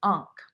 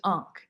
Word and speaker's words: ankh: mirror is today and the name for a mirror in ancient egyptian was ankh a-n-k-h and the word for everlasting life is unk a-n-k-h and some people say